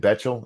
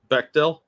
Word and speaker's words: Bechtel: the one for acting is it betchel is that how you pronounce that Bechtel Bechtel thank you I know I always say it wrong so I appreciate you